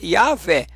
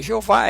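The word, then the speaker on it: Yahweh: Então vamos colocar a yaveh vamos tirar nós cometemos o erro não é Jeová e aveh né mas não continuar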